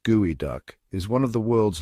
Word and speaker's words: geoduck: The geoduck, pronounced gooey duck, is one of the world's largest burrowing clams native to the Pacific Northwest.